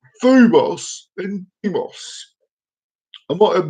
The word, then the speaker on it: Deimos: Now, Mars has 2 moons, it does, and the moons are called Phobos and Deimos. I might have mispronounced Deimos, but it's Phobos and Deimos.